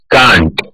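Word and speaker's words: can't: Second word कैन नॉट, कैन नॉट बनता है कांट. Third word है कुड नॉट, कुड नॉट को हम प्रोनाउंस करेंगे कुडेंट.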